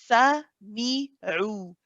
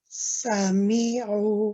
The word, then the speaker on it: سمعوا: So the fatha of the sa is not coming out as a complete fatha sound. So keep it slow, keep it steady. Sami'u. Sami'u. Sami'u. Remember how we said open the mouth a little bit? Yeah. Don't smile so much.